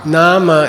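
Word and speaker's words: nāma: should be n n is that a long a or a short a n it's a long Nama in Sanskrit means name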